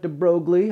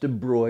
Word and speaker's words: de Broglie: and it looks like de brogi I've been corrected it actually is pronounced de Bry it's a French name so BR here came